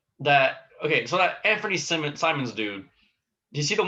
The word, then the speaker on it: Simons: Simons. Not Simmons, but Simons.